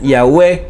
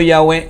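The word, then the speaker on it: Yahweh: letras yo kate valk que probablemente se pronuncian yagüe y yagüe probablemente que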